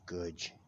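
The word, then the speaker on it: Gooj: gooch gooch my good just like good only with a j instead of a d it's good oh okay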